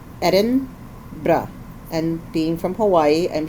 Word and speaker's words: Edinburgh: and so edinb edinb we asked several people according to the experts how to say how do the locals say it and it was basically Eden BR and being from Hawaii